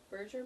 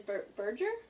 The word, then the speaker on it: Berger: Berger? Berger or Burger? Burger? Berger. It's B-E-R. Yeah, so I'm like, is it, what kind of G is it? A hard G. No, a soft G.